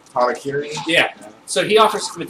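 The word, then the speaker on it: hara-kiri: No, like Americans call it like Harry Carey, but isn't there a real pronunciation? Harakiri?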